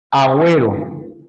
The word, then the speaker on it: Agüero: Esta es la forma Agüero ahí sí se está pronunciando mira ahí sí se está pronunciando la u pero hay que indicarlo con la diéresis o lingüística entonces si